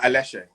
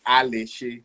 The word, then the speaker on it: Aléshé: say your son incorrectly i want to say it quick uh a lesson that's it so you've got to make sure you get the high things those dashes on the top oh yeah well if i say it properly alicia so my family uh